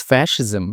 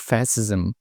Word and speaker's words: fascism: Also the correct pronunciation is fascism not fascism.